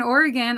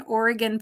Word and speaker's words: Oregon: So make sure you spell it Oregon, Oregon, not Oregon. It's Oregon. And it isn't Oregon either. Oregon. It's more of an I sound.